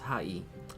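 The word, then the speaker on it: はい: The word sounds like hi or hi. However, remember how E sounds like E? The word hi is actually pronounced hai, but since Japanese is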